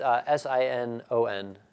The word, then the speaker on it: Sinon: They call it sign-in. I call it Sinon, but I'm the odd duck out here, I suppose.